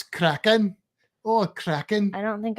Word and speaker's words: Kraken: You got to say it like you're Welsh, though. That's Kraken.